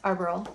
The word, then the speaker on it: Arboral: Arbor how do you say this? Arboral. Arboral? Like arboretum or arborist.